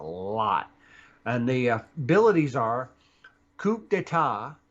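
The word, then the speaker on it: coup d'état: And the abilities are coup d'etat 5, speed. D'etat. Isn't that what I said? The P is silent. Is it? Yes. Okay, so coup d'etat.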